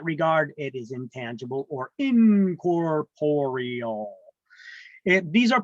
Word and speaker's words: incorporeal: it is intangible or incorporeal these are pronounced not Corporal or incorporeal it's in corporeal there's another o in there Corporal I had a